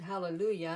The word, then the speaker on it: Hallelujah: course we all know on Hallelujah you pronounce the J makes a white sound we all know that I mean that's kind of common knowledge that no one no one says hallelujah of course it means